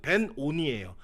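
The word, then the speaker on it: בֶּן־אוֹנִי: 먼저 이 베놈이라고 하는 이 히브리어는요 원래 발음대로 하면 벤오니예요. 그러니까 벤이라는 단어가 아들이라는 뜻입니다.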